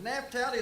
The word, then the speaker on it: Naphtali: Is Naphtali, is that the way you pronounce that, Leland?